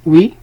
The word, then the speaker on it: hui: فهاد لو كا هذا ديال au jour d'aujourd'hui عندنا jour d'aujourd'hui كنلقاو عاوتاني jour وسط aujourd'hui وكنلقاو HUI qui se prononce oui et qui voulait dire aussi jour.